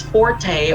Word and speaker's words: forte: about this word okay this word is pronounced either as forte or fort okay forte or fourth what is your forte okay it's pronounced as